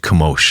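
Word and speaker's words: Chemosh: It's spelled C H E M O S H. Kimosh.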